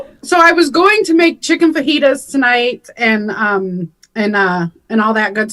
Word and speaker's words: fajita: And I believe that the food you are trying to describe is pronounced fajita.